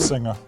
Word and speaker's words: Absenger: But it is the correct pronunciation of your name is, but the last name, the family name? Absenger. Absenger.